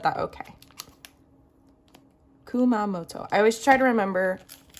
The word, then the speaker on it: Kumamoto: So, let's start with this beautiful one, which is the Kio Sakaguchi on route to Kumamato porton. Hopefully, I said that okay. Kumamoto.